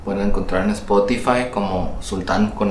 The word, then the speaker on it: Xultán: Pero sí, Sultán con X, Sultán, como un sultán con sal.